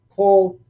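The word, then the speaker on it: כל: All of these first kamatzes are actually kamatz-katan. They are in closed, unaccented syllables, and so they become an O sound.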